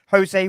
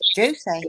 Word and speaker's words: Jose: Is your name Jose? Why does everyone say Jose when it's Josie? No, it's spelled Jose. It sounds Mexican to me. J, Like not H.